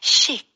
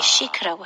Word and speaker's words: chic: 아, 그게 한국에서도 시크하다 이렇게 쓰기는 하는데, CH인데 chic이라고 하지 않네요. 네, SH 발음으로 아, 해주셔야 돼요. chic, 그렇죠.